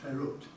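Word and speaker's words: FERUT: was the one who gave it the nickname Ferrut, which I understand is pronounced Ferret, which obviously stands for Ferranti at the University of Toronto.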